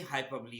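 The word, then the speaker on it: hyperbole: Next है हाइपरबली। अच्छा, इसको आमतौर पे लोग हाइपर बोल पढ़ते हैं, जो कि गलत प्रोनाउंसिएशन है।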